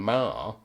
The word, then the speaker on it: Marr: Plus, his surname, Marr, M-A-R-R, should be spelled M-A-H-E-R. Yeah. So he's spelled it phonetically because he didn't want to get confused with John Marr.